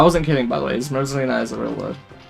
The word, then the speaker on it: zmrzlina: Smrzlina is a real word. I'm not saying it quite correctly because it's hard to switch into pronouncing a foreign language correctly, but it's Smrzlina. Zmrzlina.